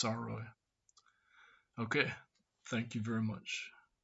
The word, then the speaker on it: Sarao: Sorry, I pronounced his name wrong at first. It's Sarao.